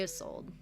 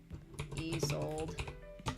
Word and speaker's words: Isolde: Lady Isolde.